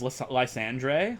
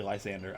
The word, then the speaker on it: Lysandre: When I first started playing Pokemon X and Y, I thought his name was Lysandre, like Andre the Giant, because look at him, he's huge, right? So Lysandre is how I was